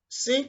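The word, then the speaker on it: سين: Sin comes out when the tips of the tongue touches the edge of the lower incisors along the upper incisors.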